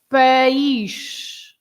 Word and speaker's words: país: So for country, you have 2 syllables. The word has got 2 syllables. You split into país, right?